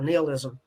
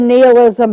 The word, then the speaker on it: nihilism: appears and represents a notion of nilisticism or nilism n-i-h-i-l-i-s-m so it's pronounced which argues that life he said nihilism but it's pronounced nihilism now that he said